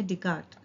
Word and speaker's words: Descartes: plane if you observe here his name rene descartes the last word c-a-r-t-e-s but still it's pronounced to be asked rene descartes so from this itself is taken to be